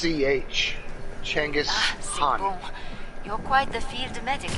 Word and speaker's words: Genghis Khan: the most weirdest name i've ever heard it's pronounced ch changes you're quite the field medic out there everyone